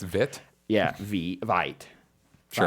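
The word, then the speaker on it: Veidt: Fun fact: you may pronounce VET, but you're wrong. It has and always will be VIT.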